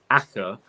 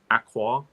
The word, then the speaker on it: AQQA: It's an AQQA, which I think I've been calling it ACA, but I think it is just pronounced aqua. So Aqua.